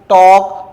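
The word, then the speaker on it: talk: यहां यहां देखिए एल के बाद के आया तो एल क्या है? साइलेंट है। क्या हो जाएगा? योक टॉक वॉक चॉक।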